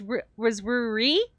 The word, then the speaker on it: Rui: So Rui was with an R. This is just E. So this is Rui. Yeah, the cat was R-U-R-I, and Rui is R-U-I. They're pronounced very similarly.